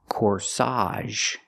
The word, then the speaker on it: corsage: And this is a cor. Flowers. Flowers that you pin on a woman's dress is called a cor. Put the stress on the second syllable. Cor. Again, the ag makes the a sound here.